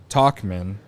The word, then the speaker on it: Tauchman: Anyway, Craig says Talkman Yeah. is the pronunciation yeah, for Tauchman.